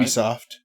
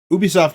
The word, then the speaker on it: Ubisoft: Ubisoft. Ubisoft if you're French, Ubisoft if you're not.